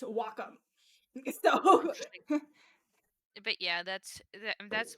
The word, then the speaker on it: Wacom: Just how you pronounce that? I don't think Waycom. Nope. Nope. I actually I actually got a demo. Want to know what how uh that's actually pronounced? Wacom.